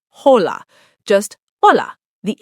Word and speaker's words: hola: But in Spanish, the H is completely silent. Always, no exceptions. Hola, not hola, just hola.